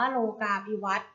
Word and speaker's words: โลกาภิวัตน์: ไป ค่ะ คำ ว่า ว่า โลกาภิวัฒน์ อ่าน ว่า โลกาภิวัฒน์ โลกาภิวัฒน์ ประกอบ ไป ด้วย สระ โอ ลอ ลิง